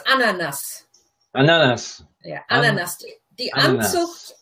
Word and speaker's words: Ananas: Well, let's look at the pronunciation first. It's ananas.